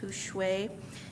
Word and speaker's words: Hushwe: We're doing business now as Hushwe, pronounced Hushwe.